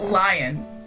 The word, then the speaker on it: Leon: I have to get used to calling him Leon or Leon because I've just been pronouncing it lion for so long. That's what my dad did, and I was just like, Father, no, that's not how you pronounce it. It is a legitimate way to pronounce it, but it's like, you know they mean Leon.